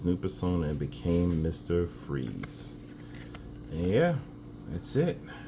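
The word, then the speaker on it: Fries: so real name Victor Fri I'm just playing no I say Victor freeze because that's the way his name is pronounced um in the Batman media so real name Victor freeze the corporation funding Victor's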